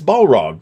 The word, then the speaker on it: Balrog: It's Balrog. The A is a standard A, as I recall.